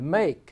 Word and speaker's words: make: Notice these two have that silent E on the end. Make has an ake unit there, and Ike is also a unit, by the way. You don't hear the E.